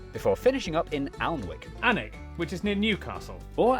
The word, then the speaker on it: Alnwick: in cornmore cuorma before finishing up in Alnwick anik which is near Newcastle or as the people